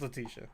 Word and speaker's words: Letitia: It's Letitia. I've been mispronouncing.